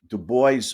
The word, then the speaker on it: Du Bois: i i've heard that i've heard the name pronounced the boys or you know normally i would have thought it was yeah dude yeah i'm sorry but anyway anyway looks french yeah all i know is